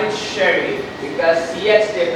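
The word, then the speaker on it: Chery: They call it sherry because yes, they pronounce that cherry but that's called cherry.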